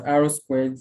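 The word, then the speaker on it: R²: The R2 pronounced as R squared score is also known as coefficient of determination.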